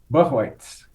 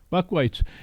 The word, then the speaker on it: Buchweitz: how do you say your last name Buck whites Buck whites and just tell me some of your you're